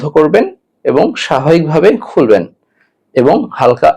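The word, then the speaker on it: حاء: এই জিম জিম উচ্চারণ করতে হলে আপনাকে জিহ্বার মধ্যখান তালুর সঙ্গে লাগাতে হবে, অর্থাৎ জিহ্বার মাঝখানটা আপনাকে তালুর সাথে লাগাতে হবে, তাহলে জিম উচ্চারণ হবে।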